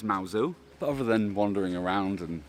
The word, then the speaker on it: Mousehole: dog-friendly place in cornwall you've all seen mauzu before i actually made a video about it about two years ago where i discussed the correct pronunciation of this place it's not mouse hoe it's mao zou other than wandering around and looking at the